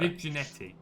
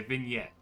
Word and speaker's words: vignette: Viginetti. I don't know if that's how it's pronounced. Do you mean vignette? Is that how it's pronounced? Okay, vignette. Sorry that I didn't...